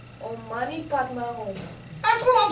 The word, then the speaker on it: Om Mani Padme Hum: I said Om Mani Padme Hum. Why do you put an R in? There's no R.